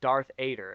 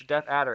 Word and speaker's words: Death Adder: about death ater and uh he Nate kept pronouncing it as Darth AER and he thought it he was just like